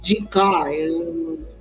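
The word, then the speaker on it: Jing Ke: Jinka, no chinês eles pronunciam K.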